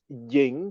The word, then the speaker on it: Ying: having created the Dynasty is ying pronounced at the second tone y i n g